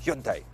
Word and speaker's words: Hyundai: say hi and I the correct Korean pronunciation is Hyun Taek